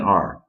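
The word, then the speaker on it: 二: number number two is two letters It's A and R think of it as r it's like two Pi it's a pirate sound the a r r that's how you remember it the fourth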